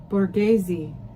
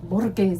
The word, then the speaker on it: Borghese: Borghese. I've heard that word before. Oops. Anyway, it's fancy. I know. It's Italian borghese.